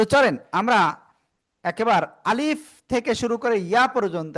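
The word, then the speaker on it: ألف: আ leaf. প্রথমে আ বলব। তারপরে বলব লিফ। কোন টেনে পড়বো না। শেষের দিকে নিচের ঠোটের পেট উপরের দিদাতের আগায় লাগিয়ে ফা এইযে হালকা একটু ফার মত উচ্চারণ হবে।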